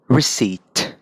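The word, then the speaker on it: receipt: जो एंड में ना CEIPT, सिप्ट बोलना चाहिए, नहीं, इसे कहोगे सीट. सोचो आप सीट पे बैठे हो और सीट के नीचे रिसीट है. ब्रिटिश में रिसीट, रिसीट.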